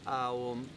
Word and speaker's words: Aum: What I would also say is this: when we are chanting Aum as a vocal mantra, we chant it with all 3 syllables, the A, the U, and the And we see that mantra,